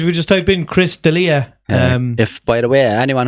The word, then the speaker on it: D'Elia: people noticed early yet it's D apostrophe e Li air but if you put it in were rowdy apostrophe just de li yeah yeah yeah we'll